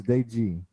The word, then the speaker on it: De Gea: Dude, it's spelled De Gea, all right? So it's De Gea.